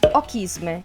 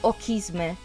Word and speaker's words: Ochisme: Se separiamo in due la parola e pronunciamo il CH come una C dura, otterremo kiss me. E se vi dicessi che a parte ochisme, la prima parte dei